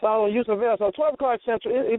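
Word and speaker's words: Yusuf El: Okay, Yusuf L show for people because some people are going to be sitting out there going, who?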